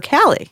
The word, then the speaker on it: Kali: call her by her they call her Callie yeah that's pretty obvious okay okay but they say it like Kali they said with like a weird accent yeah but you watch